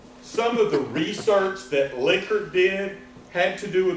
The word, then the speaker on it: Likert: this guy called it he pronounced his name liquor so those are liquor